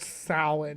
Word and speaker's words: Samhain: But it's pronounced Samhain, not Samhain.